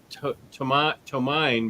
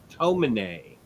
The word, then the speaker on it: Tomine: i learned that it's i've always pronounced it too mine but i was corrected i think my next imagination like tomine uh his stuff um